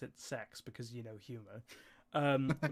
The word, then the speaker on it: CeX: but we also have cex or how they pronounce it sex because you know humor and it's spelt CX and I always say CX because but they do that that's kind of